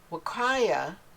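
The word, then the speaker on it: Huacaya: Wakaya, and that's spelled H-U-Y, it's Wakaya. It took me forever to learn to say that, so I say it a lot.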